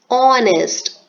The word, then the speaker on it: honest: we speak the word we are not speaking the letter H it is silent so the sound is honest Oh sound and because